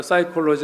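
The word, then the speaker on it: psychology: 영어에서는 피 발음 안 하죠. 심략할 때 그냥 S 발음에 사이콜로지 하는데 P를 발음하면 풋사이콜로지 이렇게 되잖아요.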